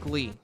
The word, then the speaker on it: Glay: If you're grinding for Glay, I think her name is Glay, but I think it's pronounced like Glee.